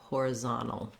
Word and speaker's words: horizontal: ah horizontal um we the letter i here um changed from an i and rise to an a hora horizontal or an e sound an unstressed reduced i you just want to be fast and light on these first two syllables and make sure that you have your more length on the zone it can be challenging